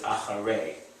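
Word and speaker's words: אחרי: But typically we have Tzereh as an E, and in this case it's Acharei because of the Yud, which gives it a Y sound at the end.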